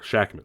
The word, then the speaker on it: Shakman: fun that's a that's a nice quote from shakman shackman yeah shackman that's how you say it uh they were